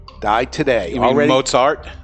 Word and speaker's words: Mozart: Wolfgang Amadeus Mozart. Die today. You mean already? Mozart? Mozart. No, yeah, it's okay. It's a T at the end. The T becomes Zarts.